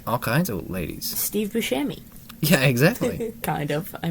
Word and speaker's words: Buscemi: You know, I actually looked up the pronunciation of his name. is it I'm trying to say Buscemi? Or Buscemi?